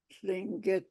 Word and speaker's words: Tlingit: we call ourselves Tlingit with a silent L.